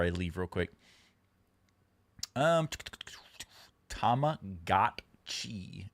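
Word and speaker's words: Tamagotchi: Um, Tama Gotchi is the only correct pronunciation.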